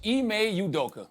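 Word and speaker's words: Ime Udoka: talk about tonight topic one Celtics head coach IMEI udoka I just learned how to pronounce his name uh he received a one-year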